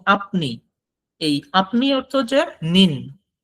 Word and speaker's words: 你: কিন্তু এইখানে একটা দেখার বিষয়, সেটা হলো যে নিতে কিন্তু থার্ড টোন, বাট নিন এ সেকেন্ড টোন। সেক্ষেত্রে উচ্চারণটা কিন্তু এখানে আলাদা হবে। যেমন নি, সেখানে থার্ড টোনটা ইউজ হয়েছে, আই এর ভয়েসটা আপ থেকে নিচে এসে আবার বাড়ছে। বাট নিন, এখানে আই কিন্তু ডিরেক্ট নিচ থেকে উপরে হয়ে গেছে, ভয়েসটা ইনক্রিজ হবে।